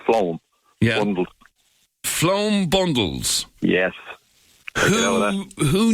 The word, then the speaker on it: phloem: are called phloem bundles spell that word sweet P th l OE m it's pronounced phloem yeah flown bondings yeah